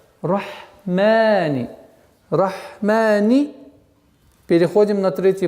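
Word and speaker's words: الرحمن: Ударение два счета. Рахмани.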